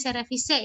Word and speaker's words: cerevisiae: Oke ya, tulisnya cerevisiae, tapi bacanya cerevisiae ya.